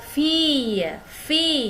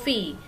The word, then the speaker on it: filles: Jadi dibacanya ce sont vos filles, ya. Kalau fils anak laki-laki. Kalau anak perempuan ce sont vos filles, ya. Walaupun dia jamak, S-nya tidak dibaca, ya. Vos filles.